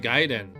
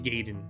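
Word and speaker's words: Gaiden: uh the game Ninja giden I had a friend all calling it ninja gayen ninja gayen I was like no it's giden giden I was a pronunciation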